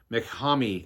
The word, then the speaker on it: MacThomas: These are pronounced in English MacHami or Macham, so that we generally